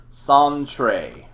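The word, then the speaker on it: Sentri: it is I century he pronounces his name song Trey okay okay what's your job son Trey I've been waiting here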